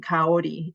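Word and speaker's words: Kaori: And uh, my name is pronounced like Lady Gaga and Ori. If you speak uh, Spanish language, you you would know how to pronounce my name. Caori is my name.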